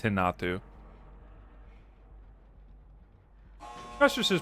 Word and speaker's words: Renato: You don't you don't say Thalita and his name is not Renato, it's Hinatu. That's just his pronunciation. And also I like to say Hinatu cuz I feel fancy.